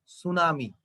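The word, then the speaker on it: tsunami: সুনামি বানানের শেষে টি আছে, সুনামি বানানের শুরুতে এই যে এটা সুনামি, দেখো শুরুতে একটা টি আছে কিন্তু এখানে টির কোনো উচ্চারণ নাই।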